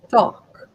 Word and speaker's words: talk: okay, and it's not talk, it's talk. Talk. Talk. Talk. How do you say WALK? Walk. Walk. So when walk is walk, why talk is not talk?